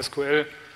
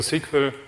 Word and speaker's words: SQL: dann mit der eigentlichen konkreten anfragesprache SQL oder Sequel je nachdem welche Aussprache sie bevorzugen eine Weile beschäftigen also